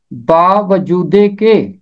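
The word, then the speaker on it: باوجودیکہ: इसका तलफ़ुज़ है बावजूदे के। बावजूदे के 4 अल्फाज से मिलकर ये बना है। बा वजूद ये के।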